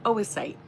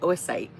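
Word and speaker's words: oocyte: The pronunciation. Oasite. Oo c y t e. Oasite.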